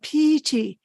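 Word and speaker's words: pīti: was using the poly word which is called PT p-i-t-i which is pronounced p-e-t not the English word piety okay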